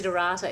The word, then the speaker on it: Desiderata: download it i just looked up to see durata it's spelt de SI de ra ta but those